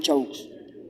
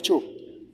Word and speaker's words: Chaux: Tenemos modismos en inglés, tenemos modismos en español, pero les recuerdo, mi apellido es Chaux, no de Cho. Hay muchos Cho en Francia, sí, así se pronuncia en Francia.